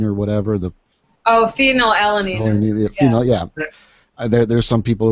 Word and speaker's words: phenylalanine: There's an issue with the I can't even pronounce it. Phenanyline or whatever. Oh, phenylalanine.